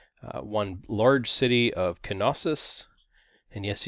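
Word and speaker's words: Knossos: one large city of kenosis and yes you do pronounce the k in canosis we're also going to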